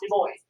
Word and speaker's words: Du Bois: washington was w.e.b the boys and that is pronounced the boys um the boys was born free um and the boys became